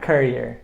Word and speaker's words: courier: Courier. You're accentuating the ending courier. You're saying career.